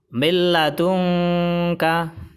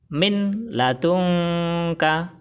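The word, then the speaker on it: مِنْ لَدُنْكَ: Bacaan yang benar adalah milladunka. Milladunka. Kesalahan baca yang pertama adalah milladunka. Salah. Karena bacanya tidak ditahan dan tidak didengungkan. Kesalahan baca yang kedua adalah min ladunka. Salah. Karena bacanya harus dimasukkan ke huruf idgham bila gunnah.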